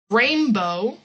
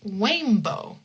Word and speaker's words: rainbow: So instead of saying rainbow, they'll say wainbow.